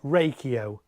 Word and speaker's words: Reiko: want to pronounce it I did actually contact them and say how do you pronounce it and they said raiko so raiko is what we're going for that's how it's officially uh pronounced uh so we've got